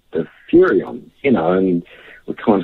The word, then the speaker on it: Furyon: You know, it's got that nice little 3-syllable thing going on. Furyon, Furyon.